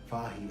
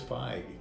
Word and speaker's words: Feige: Does it present itself an opportunity for possibly James Gunn, being the Kevin Feige of DC Universe? Is that how you say his name? I thought it was Feige.